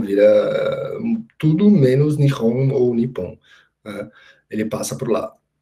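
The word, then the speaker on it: 日本: Porque a pronúncia não era nem Nihon, era Nippon. Né, com dois P's, então uma dupla consonantal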